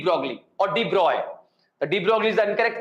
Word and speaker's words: de Broglie: The de Broglie is the incorrect pronunciation.